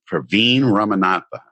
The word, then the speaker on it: Praveen Ramanathan: nurse Mark podcast and my guest today is Praveen ramanatha is that how you say it yes yes